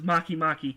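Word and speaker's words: Makemake: Venus is Maki Maki, and it's actually spelled Make. That's how it's spelled.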